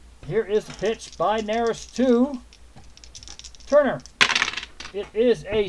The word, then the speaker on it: Neris: And I hope it is pronounced Neris. I can find it out too. I'm probably mispronouncing that too. Neris, I was right the first time.